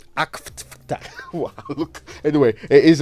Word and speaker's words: AfCFTA: Now, after, because of Kojianse, when I see after, I don't know if it's the... Please, after is AFTER. What are you saying? Say it right. AFCFTA.